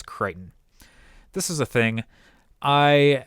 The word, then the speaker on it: Crichton: by the name of i believe it is pronounced scott crichton c-r-i-c-h-t-o-n it's either crichton or cricton but i'm pretty sure it's creighton this is a thing